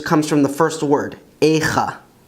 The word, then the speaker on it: איכה: The Hebrew name for the Book of Lamentations comes from the first word, Echa, Echa.